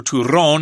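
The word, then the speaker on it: turrón: the special dessert and it's called ton or Turon if you want to roll your RS there uh it's a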